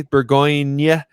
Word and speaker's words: Bourgogne: Bourgogne is how you say Burgundy in French.